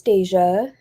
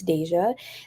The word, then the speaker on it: Deja: But my name is Deja. If y'all didn't know how to pronounce it, it's Deja, like deja vu.